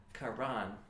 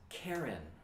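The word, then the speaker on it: קרן: hebrew bible to latin mistranslated that word quran he read it as karen same letters different pronunciation and ancient texts don't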